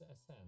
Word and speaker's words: Ahsan: Pronounce it right? I'm gonna argue with the Google. Hold a second. Ahsan. It's Ahsan actually.